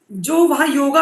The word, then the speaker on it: योग: And wellness मत लिखिएगा, योग एंड वेलनेस लिखिएगा, क्योंकि योग देख के मुझसे 50 लोग पूछेंगे जरूर, मैम आपने गलत स्पेलिंग लिखी है। मैं उन 50 लोगों को करेक्ट कर पाऊंगी कि भाई ये योगा वर्ड है ही नहीं, ये योग वर्ड है।